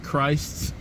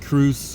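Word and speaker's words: Kreuz: I think it's pronounced Christ's Barbecue. It looks like Cruce or Crease Barbecue, but I think they say Christ.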